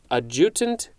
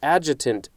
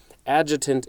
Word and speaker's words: adjutant: have this word before a jutent general i think i'm pronouncing that correctly or no no no it's adjutant general this the the the emphasis on the syllable was in the wrong place adjutant general okay sorry about